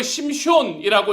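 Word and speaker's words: שמשון: 히브리어로 심숀이라고 읽히는 그의 이름 안에는 태양을 뜻하는 쉐메쉬라는 단어가 들어가서 그의 이름을 태양의 사람이라고 해석할 수 있게 됩니다.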